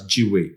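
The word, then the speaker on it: gwei: The calculation is as shown on the screen, and that would amount to 252,000 GUE, which can be pronounced as GWE.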